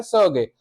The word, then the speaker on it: Sergei: अब सामने जो पर्सन खड़ा है उसके, वो है, उसका नाम दिया है सर्गे। रशियन में उसका प्रोनाउंसिएशन होता है सर्गे।